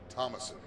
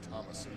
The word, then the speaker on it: Thomasson: All right, so quick little four-cylinder pronunciation. Thomasson 16 KT that is Thomasson.